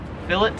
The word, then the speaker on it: filet: think that's correct like in french you would pronounce that filet i assume that's a french word maybe not really they pronounce it as fill it so it is a